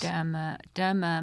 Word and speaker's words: Dermur: And then the latter is murder with the syllables turned around. And that was very specific. So Dermur is murder with the syllables. Dermur, murder.